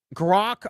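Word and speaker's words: Grok: and specifically grank Gro how is it pronounced grock on X is uh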